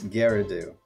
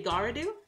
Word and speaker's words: Garedew: I'm like who knows say it again it's Gerardo okay okay I was gonna say garudu oh thank you all